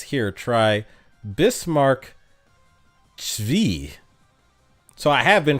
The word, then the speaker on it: Zwei: Hybris says, here, try Bismarck Zvi. So I have been pronouncing it wrong. So it's not Zwei. It's Bismarck Zvi.